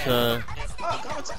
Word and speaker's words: Konata: I can't pronounce names. Sorry. You were saying it right. It's Komachan.